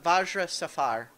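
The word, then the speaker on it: Vajra Safahr: what is her name this is uh uh vajra Safar but her title is the black staff so that's yeah that's spelled uh v a j r a uh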